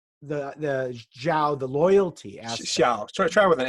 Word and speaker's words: Xiao: Xiao. Zhao. And it's like an S.